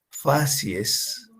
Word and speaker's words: facies: Entonces, por ejemplo, la facies A, y fíjense que se pronuncia y se lee facies como si fuera una palabra en plural, ¿verdad? Así es, hay que nombrarla de esta manera.